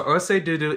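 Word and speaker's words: ọṣẹ dúdú: Anyway, so Orse Dudu is the original name, or how it is pronounced within the Yoruba tribe.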